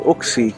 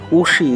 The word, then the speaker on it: Wuxi: In the morning I was saying Wuxi, that's not actually the right pronunciation. Wuxi is the right pronunciation.